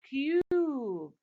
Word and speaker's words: cube: Cup. When I add the silent E at the end, the vowel letter in the end, says its name, so it becomes cube.